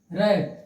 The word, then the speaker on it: wrap: क्या हो गया है, रैप, रैप means, रैप means क्या, लपेटना, लपेटना, लपेटना, रैप मीन्स लपेटना। ये देख लिए W जो है साइलेंट हो गया, रैप मीन्स लपेटना।